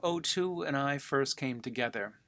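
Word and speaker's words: Otoo: O Two, he told me his name was, pronounced O Two.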